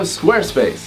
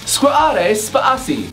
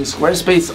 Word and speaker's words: Squarespace: sponsor of this video Squarespace squad ace Posse is not how you pronounce that whether you experienced web